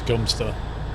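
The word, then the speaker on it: Godmanchester: came back from trick first no ways that pronounce gum stir no way you've got to be kidding no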